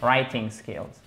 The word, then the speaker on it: writing: you do not please you do not pronounce that w okay writing skills are you ready guys